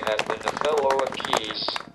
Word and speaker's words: Caius: been a fellow of ke or CH as my American speech synthesizer pronounces it for more than 40